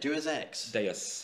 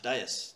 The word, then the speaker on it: Deus Ex: Deus Ex? Deus. Deus.